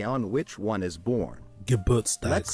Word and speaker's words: Geburtstag: So it's not Gerbertstag, it's not Geburtstag, it's Geburtstag. Means the day on which one is born. Geburtstag.